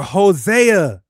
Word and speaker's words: Hosea: That's Osea or Hosea. Hosea There's no I sound at all.